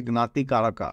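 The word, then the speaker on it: Jnatikaraka: you need to check the Gat Kaka okay or you could say gnati Kaka as the proper Sanskrit pronunciation so what is this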